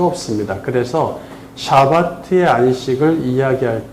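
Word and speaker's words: שבת: 샤파트 샤바트 샤바트 뭐 발음이 그런데 두 발음 다 괜찮은 거 같아. 샤바트 해도 되고 구별하려고 이건 명사니까 샤바트로 하자.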